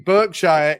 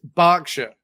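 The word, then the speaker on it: Berkshire: Instead of it being Burkshshire, it's Barkshire. So we pronounce when it when it's B r K,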